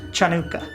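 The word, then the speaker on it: Hanukkah: there's your Han yeah there's Hanukah too right but it's pronounced chanuka if you know the Hebrew chanuka it is it is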